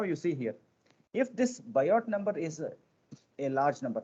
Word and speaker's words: Biot: symbol it is called bio number actually biot is the spelling but it is pronounced as a bio bio number with t as a silent so this bio number